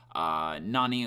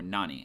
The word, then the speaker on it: 何: talking about today is Nani or the word what in Japanese has two different ways you can pronounce it nan or Nani and today we're just